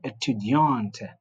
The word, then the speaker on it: étudiant: We said if the last letter is a consonant, it's not pronounced. That's why we're saying je suis étudiant for males and je suis étudiante for females. So the E, we call it the silent E, which gives sound to the consonant, which is usually not pronounced if it's what? If it's masculine.